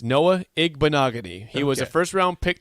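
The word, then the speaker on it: Igbinoghene: Pronounce that name again. No, I got it. It's Noah Igbenogany.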